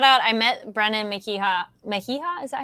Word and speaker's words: Mejia: Mejia?